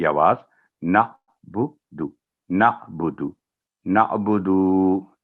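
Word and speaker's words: نَعْبُدُ: उसके बाद है नअबुदु, तो बाद दफ़ा जल्दी मना इय्याका नाबुदु, तो नाबुदु नहीं है, जो ना ही नाबुदु है, ना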